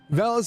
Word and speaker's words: Valis: It's like Value, but Valis Investment Bank.